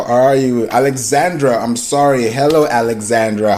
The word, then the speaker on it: Alexandra: You know, I lived in Maryland for a little while, and people from the South near Virginia, they say Alexandria, but everywhere else it's Alexandra.